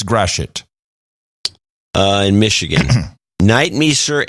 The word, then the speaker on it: Gratiot: There's a way of pronouncing it. I don't remember how. Gratiot. You almost said it right. Gratiot or Gratiot? Gratiot. You kind of swallow the shit, but it's Gratiot.